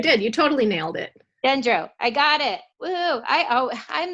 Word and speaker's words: Gendreau: Today I have Gendreau on. did I say it right? Yeah, you did. You totally nailed it. Gendreau, I got it.